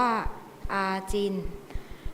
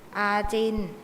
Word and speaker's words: อาจิณ: ขอ เสนอ คำ ว่า อาจิน อาจิน อ่าน ว่า อาจิน อาจิน เป็น คำ วิเศษณ์